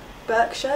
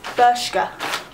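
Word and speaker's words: Bershka: love it from Burkshire Burkshire is that how you say it no it's berska bur it's from berska um and it's got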